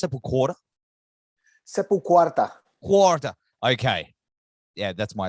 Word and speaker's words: SepulQuarta: Is it pronounced SepulQuarta? SepulQuarta.